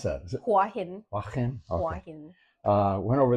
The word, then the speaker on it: Hua Hin: How do you pronounce that? Is it Hua Hin? Hua Hin.